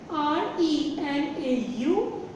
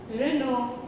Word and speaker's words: Renault: I just asked him, what is the pronunciation? Then he said, R-E-N-A-U-L-T.